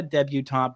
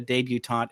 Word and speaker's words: debutante: Not a debutante, but a debutante. It's spelled the same way, but the emphasis is there, so you know what we're talking about.